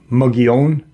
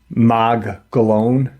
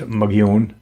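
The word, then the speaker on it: Mogollon: you know, um why what and the it's actually pronounced um muggon, but the Caucasian pronounce it magn l o n, but it's pronounced magon.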